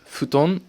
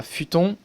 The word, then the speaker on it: futon: de mes fils hans pareil footon c'est pas futon mais je t'en veux